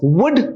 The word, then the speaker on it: would: not giving emphasizing or we are not stressing the letter l there we pronounce it as wood and wood what is